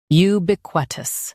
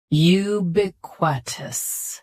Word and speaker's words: ubiquitous: Ubiquitous. Ubiquitous. Stress b, keep qu soft, and finish with tus.